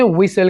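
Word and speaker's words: whistle: सीटी बजाना, इसे इंग्लिश में विसल कहेंगे। विसल। यहाँ पर दोस्तों आपने टी के साउंड को आपने प्रोनाउंस नहीं करना, इसको हम साइलेंट रखेंगे।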